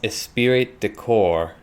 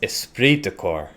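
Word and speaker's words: esprit de corps: pointed out to me it's not pronounced espirit decor it's pronounced esprit decor esprit de cor so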